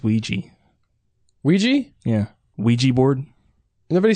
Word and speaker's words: Ouija: doesn't know how you say it region it's Ouija Ouija yeah Ouija board nobody said people say Ouija board don't they they mispronounce it like that one video or it's